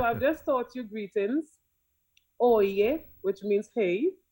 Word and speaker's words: oye: Oye literally is spelled like how we would say oi in Right. English. O-Y-E. It's Right. pronounced as oye, which means hey.